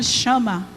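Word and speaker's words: שמע: obedecer no termo hebraico a palavra ouvir significa obedecer se pronuncia chama n chama obedecer para o senhor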